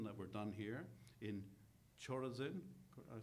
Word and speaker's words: Chorazin: You know, if the works had been done there in Tyre and Sidon that were done here in Chorazin, I said it right, okay, and in Bethsaida,